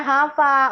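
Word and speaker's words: חוה: Orang Ibrani itu ya bacanya hava. Orang Indonesia gak bisa bacanya Hawa.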